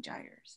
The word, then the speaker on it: gyres: right way to say that gyres tires oh gyres okay hi can everybody hear me okay great